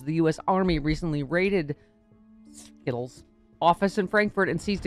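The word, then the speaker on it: Scytl: do you pronounce that s-c-y-t-l sounds like skittle yeah let's go skittle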